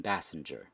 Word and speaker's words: Basinger: The I think I add more like the hard letter to it versus I feel like what's the opposite? Passenger? Basinger. Oh yeah. I guess I add more of the hard G Okay, there.